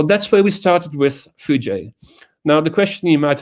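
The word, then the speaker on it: foojay: So then you would have FOOJ, and you would have Fuji. So you wouldn't know how to pronounce it correctly. So we've added the A and the Y to help you pronounce it, and it's Fuji.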